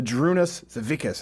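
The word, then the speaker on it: Žydrūnas Savickas: anyone else against his biggest rival wrote the Droon Asst Savickas I think it's how it's pronounced and poor for the torch was passed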